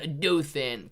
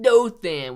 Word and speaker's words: Dothan: You had it right the first time. Dothan. Gotcha, Cody. Very difficult, man, when you don't know how to say it. Dothan would be the name of the city.